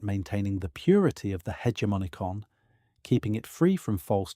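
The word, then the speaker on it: hegemonikon: The faculty that performs this operation of ascent or refusal is what the stoics called the hegemonicon meaning the ruling part or the commanding faculty pronounced roughly as hegmon eon.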